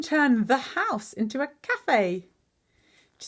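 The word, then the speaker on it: café: into a cafe to see how cafe has got that a cute little accent French accent on the e turning it from cave to Cafe because it's a word that we got from French okay here they all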